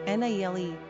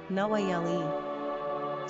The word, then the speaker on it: Nayeli: Pronunciation, Nayeli, Nayeli.